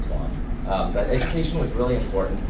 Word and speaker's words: Tuan: I spelled it not phonetically, so it's T-O-A-N. So anyway, it sounds like Toan or Toan, but it's really Tuan.